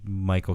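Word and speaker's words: Mychal: Michael Kendricks.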